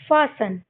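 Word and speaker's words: fasten: टी हमारा silent हो जाएगा। तो हम इसको क्या पढ़ेंगे? फासन।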